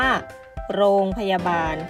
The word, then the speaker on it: รพ.: คำ นะ คะ คือ รพ. แล้ว ก็ มี จุด หรือ ใส่ เครื่อง ใหม่ มหาภาค ด้าน หลัง นะ คะ เรา จะ อ่าน ว่า โรง พยาบาล ค่ะ ต่อ มา ค่ะ ข้อ